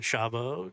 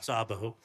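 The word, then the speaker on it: Szabó: year of that um I don't know if I'm going to butcher the pronunciation but is ishan shabo shabo the Hungarian filmmaker you sh Sabo you play three generations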